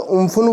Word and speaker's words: Amphan: और दोस्तों ये अम्फान है, इसका दोस्तों अगर हिंदी मीनिंग देखा जाए, अगर हिंदी नाम प्रोनाउंस किया जाए इसका, यानी कि प्रोनाउंसिएशन किया जाए इसकी, तो दोस्तों उम्फुन बोलते हैं इसको।